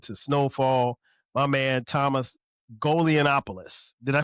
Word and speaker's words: Golianopoulos: My man Thomas Golonopoulos. Did I pronounce that right?